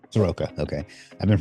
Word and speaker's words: Soroka: Soroka. Soroka. Okay. I've been pronouncing that wrong in my head for 10 years.